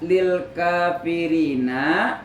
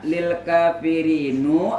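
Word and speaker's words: لِلْكَافِرِينَ: Wal hijaratu uiddat lil kafirina. Lil kafirinu. Apa? Lil kafirini. Lil kafirina. Lil kafirina. Kenapa dibaca lil kafirina? Karena kata yang diakhiri ya nun jamak.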